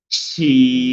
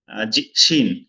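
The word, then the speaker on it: شين: এটা শাসা শব্দ করে হবে এই হরফটি, এটাকেও 3 আলিফ টানতে হবে। শিন শিন শিন। এখানে 3 দাঁত হয়েছে, হ্যাঁ, এই জন্য এটা শিন।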